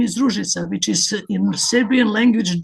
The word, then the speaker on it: Ružica: what to pronounce my name. When I introduced myself to him, I said, "Well, my name is Rouisa, which is in Serbian language dimminitive from rose